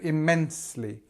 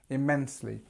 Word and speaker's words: immensely: So we've got this stress here just before immensely. Now, the reason we've done this is because it's a double M. So instead of putting the stress after this part, so kind of here, we put it just after the I sound, because that's how you say it. So it sounds better like that.